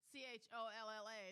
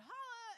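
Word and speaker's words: challah: Like the little girl when I was in the bakery, and I said, how do you pronounce this bread? Cholla. And she said, holla.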